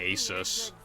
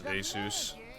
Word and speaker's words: Asus: Like, when I was younger, I always used to say Asus, because it just sounded a lot better, but then I learned it's Asus.